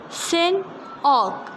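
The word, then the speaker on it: Hsin Og: Next word, Sin Og, as it is written HSIN, so H is silent here. We will pronounce it Sin Og, the Burmese overseer under Mickey's command.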